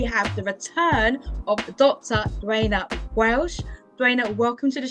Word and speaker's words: Duana: Duana Welch, pronounced Duana, is known for writing and dating coaching that